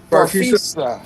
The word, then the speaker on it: Farfisa: How you pronounce it again? Farfisa.